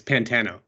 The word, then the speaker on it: Pantano: It's Pantano.